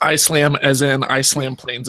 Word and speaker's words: Islam: The one that got the most pushback was some of my Islam ones, or Islam, I guess. I always say it wrong. People always give me crap. Islam.